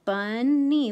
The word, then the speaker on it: bunny: So this is short. The bun is short, like we learned before, for a closed syllable. And then the NY, the knee sound, is open.